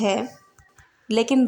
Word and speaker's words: whole: जैसे होल, WHOLE, यहाँ पर डब्ल्यू के बाद एच आया लेकिन एच का प्रोनाउंसिएशन किया गया है।